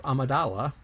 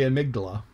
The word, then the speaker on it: Amidala: And that is in Star Wars, where when I talk about Princess Amidala, I say amygdala.